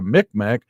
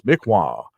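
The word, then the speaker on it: Mi'kmaq: the lower 48 as the mik mac but the actual pronunciation is mikwa so this all of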